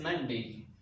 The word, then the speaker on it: Monday: पहले ये वर्ड है not Monday. O sound is not there. This is Monday, and the last syllable, that is day, is not day, actually not long. You need to pronounce this syllable as day. Day. Monday is the accurate pronunciation.